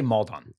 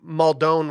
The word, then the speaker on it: Maldon: you pronounce flaky I I say maldon I said I said I I said muldone one time and someone was like yeah I think you're clashing it up too much and then I went